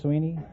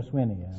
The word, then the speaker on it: Sweeney: Sweeney? Right. You pronounce it Sweeney or Swinney? Swinney. Where you from, Perry?